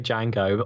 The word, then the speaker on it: Django: you think about that how do you say it you don't say it to Django do you I I definitely say Jango I I I have heard Django before um one of